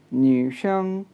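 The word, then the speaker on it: 女生: इसी तरह अगर मैं नेक्स्ट वर्ड की तरफ देखूं जी, NUSHENG, तो ये बनेगा न्यूशंग, न्यूशंग, न्यूशंग, न्यूशंग कहते हैं गर्ल स्टूडेंट को।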